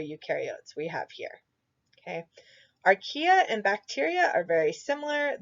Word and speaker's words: archaea: I think it's correctly pronounced archaea.